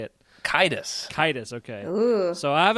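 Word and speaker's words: Caedus: Kitus.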